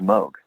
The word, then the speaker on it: Moog: but technically it's pronounced Moog so for example they had a keyboard called the rogue that was one of their models the whole point was it for it to rhyme so it was a